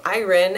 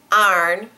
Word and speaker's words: iron: boss said that we should get together to Iron Out The Kinks in the program that we're